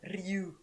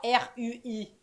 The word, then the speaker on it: Rui: Hop, et c'est dans Demon Slayer, c'est Tanjiro contre Ryu. La prononciation est passée par la porte. Rui, Rui, Tanjiro et Rui. Je suis japonais. C'est écrit vraiment R-U-I.